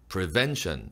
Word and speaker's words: prevention: Prevention Agency, Prevention, Ven, 둘째 음절에 강세가 있고요. Accumulated Tally, Accumulated, U나 U에 강세가 들어가는 음절은요, 조금 더 길게 내밀어주세요.